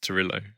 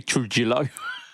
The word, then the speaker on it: Trujillo: I was just thinking about how you pronounce Torillo. And it's like, Rio. Yeah. Torillo. Surely not. I don't know. Answers I'm in the not comments Spanish. below. Well, he says he's American. It would be Trujillo.